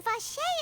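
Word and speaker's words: Vacher: You mean Vache is the one who did all of these... experiments? Apparently the R is silent.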